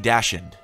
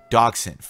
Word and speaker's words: dachshund: At Lulu Mini Dashend. Dachshund. I know how to pronounce that.